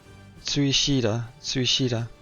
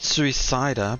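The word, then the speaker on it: スイシーダ: Suishida. Okay. So not suicida, but Suishida. It's she. If I have to take the Japanese pronunciation.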